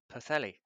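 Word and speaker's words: Pwllheli: correct the the internet tells me it is pathelli um you know I'm I'll wait and see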